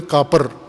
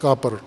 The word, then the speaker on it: کافر: البتہ پشتو لہجے میں کاپر کہتے ہیں، کاپر.